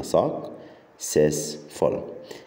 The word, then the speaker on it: successful: Successful قسم الكلمة successful. السي الثانية بنطقها س عشان يجي بعدها اي، لكن السي الأولى بنقراها ك.